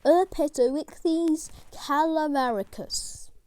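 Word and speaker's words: Erpetoichthys calabaricus: fish or rope fish scientific name urbatoric these calabaricus pronunciation er petrowicz calamaricus pronunciation that's right size reported to 90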